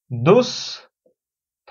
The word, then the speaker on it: দুস্থ: পাচ্ছি যে দুস্থ, দুস্থ, এই দুস্থ শব্দের উচ্চারণ কি? শব্দের মাঝে বিসর্গ আছে, উচ্চারণ হচ্ছে দুস, সরি, দন্ত সই হবে, দুস, থ করে থ, দুস্থ।